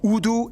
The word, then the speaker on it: Urdu: and taught in schools, used as lingua francas, Urdu and English. Yeah, that's right, it's pronounced Urdu, not Urdu.